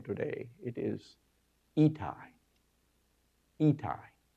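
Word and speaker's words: Ittai: He says, let me tell you how to pronounce this name today. It is Itai.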